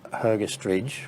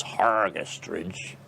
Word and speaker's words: Hergest Ridge: two of the bells came hergest ridge or pronounced properly by the locals hargest ridge which was a much